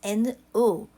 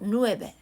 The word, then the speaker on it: nove: But it's spelled like this, N-O-V-E. Okay, nove, not nueve, but nove plus cientos.